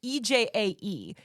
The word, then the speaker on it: EJAE: most of the songs, I don't know if it's pronounced EJ or EJai, it's EJAE.